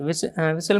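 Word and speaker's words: whistle: विसल में कौन सा लेटर साइलेंट है, तो इसमें 2 लेटर साइलेंट हैं और ऑप्शन नंबर वी, यानी एच और टी को हम लोग नहीं प्रोनाउंसिएशंस करेंगे, विसल्स पढ़ेंगे इसे केवल, और ये दोनों साइलेंट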